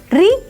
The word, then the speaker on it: ऋ: री का मूल उच्चारण आज लगभग भुलाया जा चुका है। इसे उत्तरी क्षेत्र में री और दक्षिणी क्षेत्र में रू से मिलती जुलती ध्वनि के रूप में बोला जाता है।